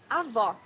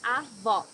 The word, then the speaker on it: Avó: Avó, grandmother. Here you need to hear the sound of the last O in the syllable. It should be an open O, as we say in Portuguese. Avó.